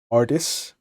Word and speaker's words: Artis: meeting one in particular artis as uh has been mentioned to me is how it's properly pronounced excuse me has no